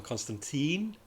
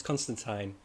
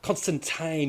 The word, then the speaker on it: Constantine: And I love how they address how Americans say John Constantine when it's Constantine.